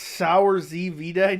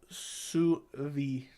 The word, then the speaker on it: sous vide: I like it's pronounced sour Z vide. No, it's not. It's sous vide.